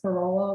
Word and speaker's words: Corolla: For any others who might be from North Carolina, if it's pronounced Corolla like the car, then my apologies, but I'm pretty sure it's Corolla.